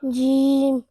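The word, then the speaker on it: ج: It's a Shajariya letter and it's pronounced from the middle part of the tongue, touching the middle part of the palate, meaning top of the mouth.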